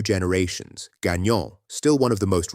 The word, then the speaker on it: Gagnon: Gagnon, still one of the most recognizable Quebec names, sometimes stayed Gagnon and got pronounced with a hard American G instead of the soft French one.